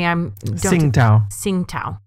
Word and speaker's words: Tsingtao: Pronounce that for me. Tsingtao.